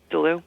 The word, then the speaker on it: Deleew: talking to novelist Brian Deleew about his first published book, In This Way I Was Saved. And by the way, am I pronouncing your last name properly? Yep, Deleew. Good, okay, fine.